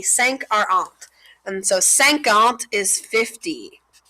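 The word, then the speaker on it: cinquante: so you pronounce it like sank alt so notice any number that ends in this a and t e so anyone that ends in a and t e kind of sounds like ant at the end so that helps you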